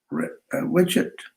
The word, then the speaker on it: wretched: When we are born in oppressive and wretched, how do you say wretched? Condition, W-R-E-T-C-H-E, wretched condition or wretched? Wretched. Wretched, right? Wretched. So you don't pronounce W.